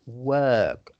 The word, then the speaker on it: work: that word is pronounced work like with the letter e work work yes you were saying it's like the word perk you see um you